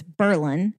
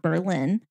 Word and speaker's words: Berlin: And it was named after Berlin, Germany. Pronunciation is not the same.